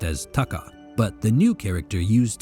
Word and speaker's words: Taka: By coincidence, the actual pronunciation of Takauji's name did not change, having already included another kanji character pronounced as Taka, but the new character used to convey the Taka sound was suddenly a lot more prestigious.